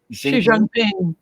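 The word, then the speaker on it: Xi Jinping: with the Chinese president uh with am I pronouncing this right? Xiang Xi Jangping Xi Jangping.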